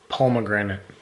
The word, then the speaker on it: pomegranate: name in Spanish so in English she saw it and thought it was pronounced from a grenade but apparently it is pomegranate yeah anyways I'm gonna